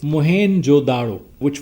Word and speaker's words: Mohenjo-daro: Let me share with you that actual pronunciation of this site is Mohenjo-daro, which was founded by Sir John Marshall in 1920s. That is written Mohen, Mohen, Mohenjo-daro. That's why we write it in Sindhi also, Mohenjo-daro.